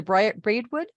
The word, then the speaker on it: Braidwood: she also writes three weekly newspaper columns about the history of the region the bread am I pronouncing that correctly Sandy the Braidwood Braidwood yes thank you Braidwood journal the Wilmington